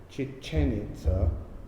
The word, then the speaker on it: Chichén Itzá: went to chichen itza chichen itza it's hard to say but you put the accent on the final syllable um i've been in